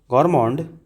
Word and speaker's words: gourmet: That is गॉर्मे. GOURMET. इसको आप पढ़ेंगे गौरमे. गौरमे.